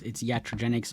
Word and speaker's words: iatrogenics: it's naive interventionism, and I believe it's pronounced iatrogenics. Yeah, it's iatrogenics or iatrogenics, as he said in his Google talk, but yeah.